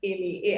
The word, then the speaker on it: Ami: apple spotify visa etc it's just amy ami all cups that is